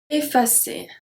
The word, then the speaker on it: effacer: Sometimes the at the beginning will be pronounced e, such as effacer.